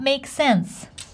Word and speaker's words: makes sense: sense by the way do you hear how I pronounce it I don't say it makes sense cuz makes ends with s sense starts with s that's why we put them together and we pronounce One S that makes sense does it make sense oh that makes sense Lola why would we PR announce it twice hm you're agreeing with